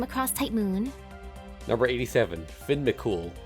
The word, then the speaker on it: Fionn mac Cumhaill: Number 87, Finn McCool, and yes, that is the correct way to pronounce his name.